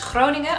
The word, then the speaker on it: Groningen: So the next province and the next prompt is Groningen. I'm looking forward to hearing people who aren't Dutch pronounce this.